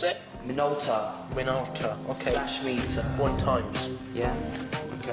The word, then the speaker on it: Minolta: Minolo. How do you pronounce it? Minolta.